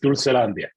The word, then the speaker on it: Dulcelandia: Okay, help me if I mispronounce the name of the store, but I understand that Dulcelandia. Correct, yes, Dulcelandia.